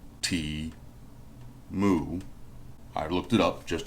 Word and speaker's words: Temu: And yes, that's how you pronounce it, T-Mu, T-Mu.